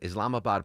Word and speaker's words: Islamabad: Islamabad, Pakistan.